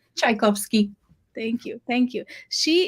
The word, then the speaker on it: Tchaikowski: So today I have the pleasure of Claire, and she's going to help me pronounce her last name. How do It's I say your last name? Tchaikovsky.